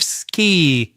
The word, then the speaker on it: ski: Surely have a sky as in high in the sky. And then we have ski with the long e sound. Often, my students will confuse these vowel sounds. Sky ski.